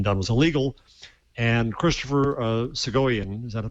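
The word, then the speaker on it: Soghoian: And Christopher Segoyan, is that a correct pronunciation?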